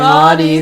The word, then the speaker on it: Audie: And I'm Audie. The O is silent.